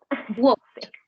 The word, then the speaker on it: walked: Walked. Walk. Walked. Walked. Walk. La ED va a sonar como una T.